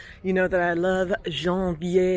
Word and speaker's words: Janvier: So if you're in the area and you see Janvier, it's kind of pronounced like the month January, but yeah, definitely worth